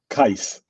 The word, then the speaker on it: Kais: Is Kai or Kwai? Kai. Kais. Kais. Just okay. got to finish it off.